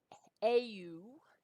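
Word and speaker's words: αὖ: Hoi ephoroi au, and again, you pronounce that, even though it's a diphthong, it's sort of an au sound.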